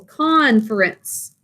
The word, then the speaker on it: conference: in our lesson but don't double the r because we are going to have an accent on the first syllable conference and it's not a